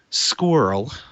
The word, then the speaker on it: SQRL: right shields up and squirrel which I like saying that's sqrl if you don't like acronyms or acronyms pronounce his words but record the show